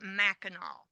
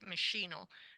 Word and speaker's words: Machinal: woman it is entitled machinal now that's how I'll be pronouncing it spelled m a c h i n a l uh some playwrights or some authors call it maol but I like machinal and this is by